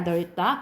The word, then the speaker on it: 넓다: 여러분 넓다는 리을 비읍 중에 리을로 발음돼요. 이건 써놓자. 넓다야 넓다.